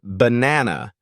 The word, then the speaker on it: banana: found in unstressed syllables for example in the word banana the first and last a are pronounced as a schah so it sounds more like bu this sound may seem